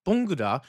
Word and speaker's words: 봉구다: 봉구다, romanized pronunciation, 봉구다, like good, 봉구다, to pick up, gather, or collect something from the ground.